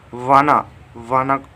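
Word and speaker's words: wanna: वान टू को हम short में वाना लिख सकते हैं। इसका करेक्ट प्रोनाउंसिएशन आप कर सकते हैं वाना, ठीक है, वोना।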